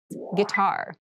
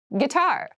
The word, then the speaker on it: guitar: casual clothing casual clothing guitar guitar gar this word has kind of an interesting spelling it starts with GUI but we pronounce this as G so a guitar is